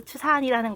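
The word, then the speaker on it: 赤山: 이 적산에 중국 발음으로 츠산이라는 거예요.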